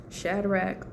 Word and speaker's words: Shadrach: The it was Shadrach, Meshach, and Abednego.